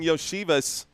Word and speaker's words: Iosivas: Benny saying Yoshivas. I've always heard it called Iosivas, so I'm going to continue saying it how I'm comfortable.